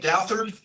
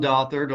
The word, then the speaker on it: Douthard: Am I pronouncing it Douthard? Yes, Judge. Dothard on behalf of defendant John Eric Murphy.